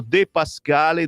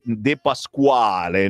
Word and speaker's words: De Pascale: Questo De Pascale dobbiamo imparare a pronunciarlo bene, perché a noi del nord poi ci viene da dire De Pasquale, no?